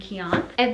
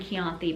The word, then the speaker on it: Keonth: Love Raina and Keonth. I've been saying her name wrong. I kept saying Keonthi, but it's Keonth.